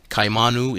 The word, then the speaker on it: Kaimanu: Kaimanu is pronounced kaimanu. Or if spoken rapidly, the two initial vowel sounds slur into kai, rhyming with high.